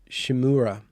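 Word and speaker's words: Szymura: giving me lessons in the s-z-y uh pronunciation shimura oh sc polish for sh okay shimura shimura shi mura shimura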